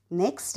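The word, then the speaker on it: knock: silent letter के next के एन ओ सी के नॉक म्हणजे आपण दरवाजा असा खटखट होतो किंवा ठोकतो ना काही पण असं तर खटखटवणे तर सायलेंट लेटर आहे के पुढचं बघूयात डी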